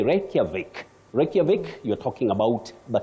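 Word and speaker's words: Reykjavik: not Volkswagen now the last one you say reic reic you're talking about the capital of Iceland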